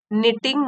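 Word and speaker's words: knitting: निटिंग बुन रही थी इसमें के साइलेंट होता है निटिंग मतलब बुनना वुलन मींस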